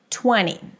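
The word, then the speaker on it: twenty: As you've noticed, I'm not pronouncing the T here because the T after an N is often dropped, especially in popular words and especially if I want to speak fast.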